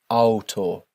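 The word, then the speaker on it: Auto: Don't forget our rule here for pronouncing the letters A and U together. D alto.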